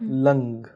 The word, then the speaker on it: लं: और इसको एक्टिवेट करने का एक मंत्र भी है, लंग। तो कई लोग इसको लम पढ़ते हैं, लेकिन इसको अगर एक्टिवेट करना है तो इसमें अंग का वाला प्रोनाउंसिएशन करिएगा, लंग इसको प्रोनाउंशिएट करके आप